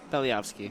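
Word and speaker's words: Belyavskiy: I believe there is a pronunciation default there. Yeah, I think I can do better. Belyevsky? Belyevsky.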